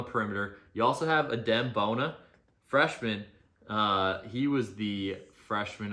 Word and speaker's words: Bona: You also have Adem Bona, freshman.